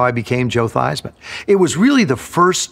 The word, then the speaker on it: Theismann: He said, "Joe, how do you pronounce your last name?" I said, "It's Theismann."